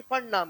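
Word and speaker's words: Pfund: फंड हम free हां या ना पी फंड नहीं फंड नाम उनका चलेगा पी साइलेंट निमोनिया जैसे अरे हां या ना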